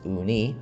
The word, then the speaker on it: uni: is gunk and sushi uni pronounced uni o-o-n-e-e as i have learned